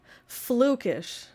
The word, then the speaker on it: Flukish: Flukish rhyming with bookish.